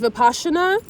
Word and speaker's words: Vipassana: It's actually pronounced Vipassana.